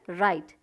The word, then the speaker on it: write: सुनाई दे रहा है, राइट, जो कि है डायरेक्शन या फिर करेक्शन। तो ये राइट, यहाँ पे भी आप देख लीजिए W जो है साइलेंट है।